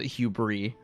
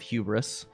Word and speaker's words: hubris: time on stream and I said out loud hubris instead of hubris because I'd never heard it said out loud. I'd only ever read it. It looks like a word that should be said without the S being pronounced.